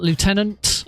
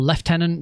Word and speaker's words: lieutenant: uh challenge unlock lieutenant or left tenant depending on how you want to pronounce it.